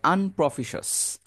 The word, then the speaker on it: unpropitious: শিয়াস বলার দরকার নেই, শস।